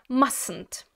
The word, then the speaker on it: mustn't: Воно буде виглядати як mustn't. Mustn't. Так, друзі, знову ж таки, букву T пишемо, але не вимовляємо.